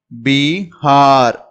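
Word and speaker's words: बिहार: இது பி பி அப்படின்னு சொல்லணும். ஹா ஹா இதை நீங்க நெடில உச்சரிப்பீங்க. ஹா அப்படின்னு. இது ர. இப்படி ஒரு மேல நம்ம புள்ளி வச்சோம்னா பீஹார், பீஹார், பீஹார் அப்படின்னு உச்சரிக்கணும்.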